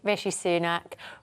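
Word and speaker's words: Rishi Sunak: God it's embarrassing isn't it well I can pronounce his name properly and my union jackass is actually rich rishy sunak because I was so you're sticking to type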